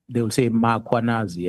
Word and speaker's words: Mkhwanazi: Even today, majority of the members in this house, if I ask them to pronounce muanazi, they will put an a after muanazi. And there's no a muanas. Mkh.